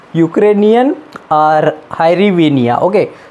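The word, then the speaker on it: hryvnia: सो Ukraine की currency unique है, तो ये देख लो, यूक्रेनियन और हायरिविनिया. ओके, सो इसका जो प्रोनाउंसिएशन है आप देख सकते हो. ओके, इसे सिंपली रेविनिया भी कहते हैं.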